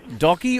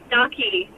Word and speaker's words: Ducky: Was it Docky or Stocky? I didn't quite hear you. Ducky. Spell it for me.